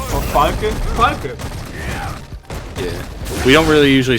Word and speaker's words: Falke: What's the correct German pronunciation for Falke? Falke.